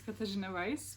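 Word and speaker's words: Katarzyna: yourself um okay so my name is katajinovice but um i know people have trouble pronouncing pronouncing the name so it's the same thing as katarina or call me however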